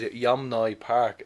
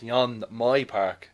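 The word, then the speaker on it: Yeonmi Park: wrong you know yeah it's oh it was pronounced as yum noy park it's yon my park the m and the ends oh but it's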